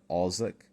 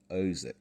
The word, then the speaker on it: Ozick: I believe in my review I kept pronouncing it Cynthia Ozick, but now, having watched the Reading Fabricators review of it, I now know it's pronounced Ozick.